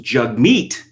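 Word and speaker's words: Jagmeet: um which is silly enough but it's apparently pronounced jug meat i'm not i'm not gonna do that no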